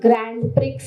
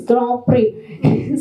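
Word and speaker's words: Grand Prix: to learn even even the pronunciation that it is not Grand Pricks it's Grand PRI so these are the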